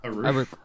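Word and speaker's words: Arouch: I I I thought they pronounced it arrow in it in the movie. It's I just watched a video of it and they pronounced it aruk. Aruk. Okay, I will I will pronounce it that way.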